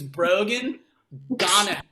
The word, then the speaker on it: Brogan Donahoe: His name is Brogan Donahoe. The first syllable of his name is bro.